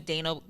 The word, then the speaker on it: Dayna: Y, even though that's not at all how it's spelled. Just because I would be like, it's Dayna, D-A-Y-N-A.